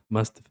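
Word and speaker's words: must've: Mustive.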